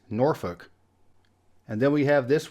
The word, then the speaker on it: Norfolk: of the biggest cities in Virginia it's not pronounced Norfolk it's Norfolk and then we have this one here I